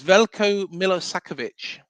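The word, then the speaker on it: Veljko Milosavljević: It's Velco Millisakovich.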